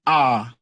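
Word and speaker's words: hour: For example, if I say an R, if you are spelling R, you spell it H-O-U-R. H-O-U-R. And you know that H is a consonant letter.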